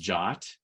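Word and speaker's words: JWT: about Json web tokens it's actually pronounced jot it's an RFC standard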